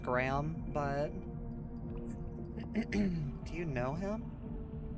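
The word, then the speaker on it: Greham: I guess I guess the name is actually technically pronounced Graham but do you know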